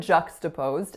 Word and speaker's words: juxtaposed: So the word juxtaposed has 3 syllables. The strongest is the winner, and the sound that it makes is So the first one is juk, with that sound. The second syllable is sta. So that is the schwa vowel, really, really short and reduced. And then our third syllable is posed.